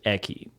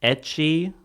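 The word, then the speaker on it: ecchi: Is it pronounced Eki?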